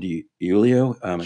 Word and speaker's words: DiIulio: You may be familiar with John DiIulio.